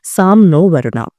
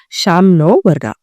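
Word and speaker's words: शं नो: Sam noa. It is pronounced as sham noa.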